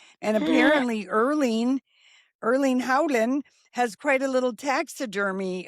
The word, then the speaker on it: Erling Haaland: Haaland. H A A is Howland.